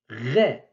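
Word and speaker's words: غ: 19e lettre, Ré. Ré. Ré. C'est le R du français, ce qu'on appelle le R grasseyé du français. Ré. Tel que dans le mot rêve, rire, route, etc.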